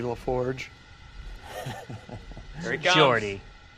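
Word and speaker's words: Geordi: What's with the shades, Gordy LaForge? Here he comes. Jordy. It's a soft G.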